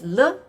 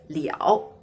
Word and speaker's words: 了: So actually, this character have two pronunciations. One is le, which we used a lot. Another one is liao.